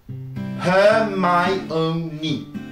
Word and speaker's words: Hermione: Hermione. 4 syllabes. On pourrait penser qu'il n'y en a que 3, mais en réalité, le O va faire syllabe à part entière, puisque on va bien sûr se retrouver avec une séparation entre le I et le O, tout simplement du fait